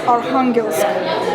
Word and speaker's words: Arkhangelsk: But the name of the city is Arkhangelsk. That's how it's pronounced.